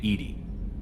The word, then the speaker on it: EDI: airlock is a jar why are you named Ed Ed is the phonetic pronunciation of Eed d i that is an